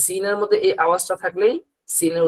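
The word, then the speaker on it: س: এটা হলো সিন আর শিন, দুইটার উচ্চারণ দুই রকম।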